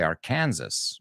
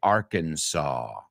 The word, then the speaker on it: Arkansas: but it's interesting because in Spain you guys say are Kansas which is weird um but yeah we say Arkansas Arkansas uh Indian word